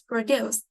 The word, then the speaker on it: produce: one or two yes the answer is 2 because produce is stress on the second syllable so we put in